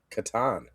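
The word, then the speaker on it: Catan: So, how do you pronounce uh Claus Toyber's game, The Settlers of Ah, Katan?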